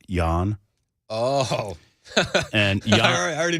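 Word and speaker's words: Jann: is spelled Jan but they pronounce it yawn oh and yeah I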